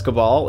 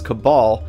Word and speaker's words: Cabal: Also, on a side note, for those of you in North America, we pronounce it Corvus Cabal, not Cabal, like you folks over the pond.